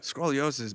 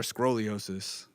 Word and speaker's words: scoliosis: Yeah, scoliosis, man. Is it scoliosis or scroliosis? I never know how to pronounce it. Scoliosis, bro. Scoliosis.